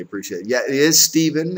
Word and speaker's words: Stephen: Yeah, it is Stephen. It's pronounced Stephen, even though it's spelled with a P-H.